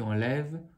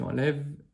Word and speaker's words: enlève: Au début, pour je, tu, il, le E ne se dit pas à la fin. Donc on termine sur le son VE. J'enlève, tu enlèves, elle enlève.